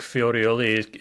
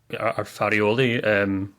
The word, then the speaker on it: Farioli: I think Fiorioli is our Farioli. I think I mispronounced the first in there.